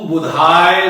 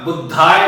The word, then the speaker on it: बुधाय: दीजिए और मंत्र बोलिए ओम बुम बुधाय नमः। बुद्धाय नहीं, ध्यान दीजिएगा, बार बार कहता हूं कि लोग बुद्ध बुद्ध बुद्ध कहते हैं, बड़े बड़े दिग्गज भी कहते हैं।